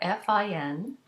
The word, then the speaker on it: fin: So for example, if you have the adjective fin, you have F-I-N, the N is not pronounced because it's in word final position, but the I in front of it becomes nasal into the sound fin.